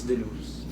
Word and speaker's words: Denno's: Is DENNO'S, if I pronounce it correct? Yes, DENNO'S.